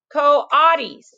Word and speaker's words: coatis: Pronounced coatis. Coatis.